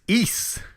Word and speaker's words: Ys: Which Weeze? Ease. Weeze? Like geese, but with Ice? Ease. Geese. Geese without the G.